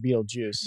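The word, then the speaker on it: Betelgeuse: Yeah, but they still pronounce it Beetlejuice.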